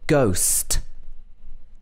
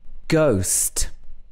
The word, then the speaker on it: ghost: very honest person and in ghost here the silent letter is in the middle of the word ghost ghost have you seen a ghost also in hi and